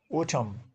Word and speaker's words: autumn: Autumn, yan is silent.